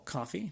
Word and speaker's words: Ko-fi: If you enjoyed this episode and would like to support the show, I do have a Ko-fi, or coffee, depending on how you say it, K-O-F-I, and that's /Alex C.